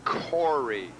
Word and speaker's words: Coury: And to my extreme right is Coury. Coury, pronouncing the as ugh.